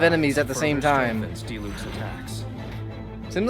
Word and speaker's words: Diluc: Diluc.